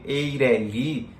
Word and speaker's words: EIRELI: a palavra eireli é alguns chamam de eireli no face seria o porto e até porque não tem atento né nada na última na última sílaba eireli a gente tem que